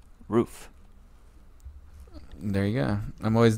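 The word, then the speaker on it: Ruf: think less of you for mispronouncing and earlier but it's correctly pronounced roof there you go I'm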